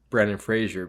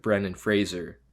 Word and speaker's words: Brendan Fraser: Frazier Fraser remember like he would apparently everyone pronounce Brendan Fraser Brandon Fraser but it's like Brennan Fraser is it yeah I think there's even videos